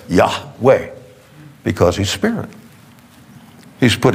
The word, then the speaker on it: Yahweh: pronounce his name and if you ever just pronounce it yeah way notice your tongue doesn't touch the roof of your mouth or the teeth or there's no obstruction that's just pure air yah way because he's Spirit he's